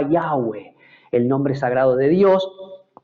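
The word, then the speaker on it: Yahweh: que sonidos vocales llevaba entonces ahí se cree que se pronunciaba yagüe el nombre sagrado de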